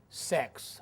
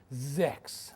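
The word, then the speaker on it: sechs: number of that number they called it sex okay actually I did not pronounce correctly should be Z okay again right six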